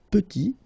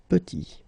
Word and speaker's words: petit: And then we get petit. Il est petit, elle est petite. Okay, exactly the same idea. Final T is not pronounced, and then when you